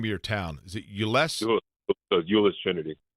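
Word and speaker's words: Euless: say the name of your town is it uless UL Trinity ulis Trinity okay so between Ulus Trinity High School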